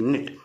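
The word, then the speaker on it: knit: नाइट का, इसको के साइलेंट है, इसमें के एन आई टी को कनाइट नहीं पढ़ते, क्या पढ़ते इसको, नाइट, एन आई टी, निट, इसका मतलब होता बुनना।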